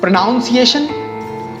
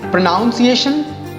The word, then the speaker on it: pronunciation: Pronunciation. Pronunciation नहीं, इसको कहते हैं pronunciation.